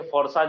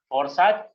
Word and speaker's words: FORSAGE: Spelling है FORSAGE फ़ोरसाज या इसको फ़ोर्सेज भी बोल सकते हैं।